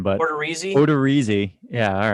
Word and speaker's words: Odorizzi: Odorizzi.